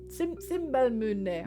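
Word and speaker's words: Simbelmynë: Simmelmine. Simbelmune. Oh, hang on. I wrote down how to pronounce it because I couldn't remember.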